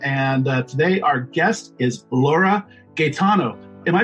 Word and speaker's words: Laura Gaetano: am Eric Berry and today our guest is Laura Gaetano am i pronouncing that right Laura yeah they're pronouncing it